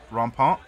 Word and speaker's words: rampant: Although I think that you're not supposed to pronounce the T at the end. Hippogriff en passant rampant.